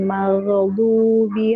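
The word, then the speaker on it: غَيْرِ الْمَغْضُوبِ: Nah, mengalir. Maghdubi. Jangan qalqalah. Maghdubi. Jangan qalqalah. Ghairil maghdubi 'alaihim. Belum Bu, baru. Baru sampai ghairil maghdubi 'alaihimnya belum. Ya Ibu, huruf ghain jangan qalqalah ya.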